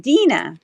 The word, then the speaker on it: Dina: of those great broaches it's pronounced Dena got it okay no problem Dena thanks for coming